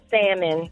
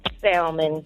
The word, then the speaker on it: salmon: got life messed up people pronounce the L and salmon in college salmon I cannot stand it